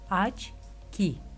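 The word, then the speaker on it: очки: Rusça'da O harfleri ilk kelime başında vurgu ona gelince A gibi okunmaktadır. Örnek açki, açki.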